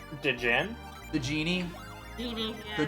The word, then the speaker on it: Djinn: it's pronounced Djinn.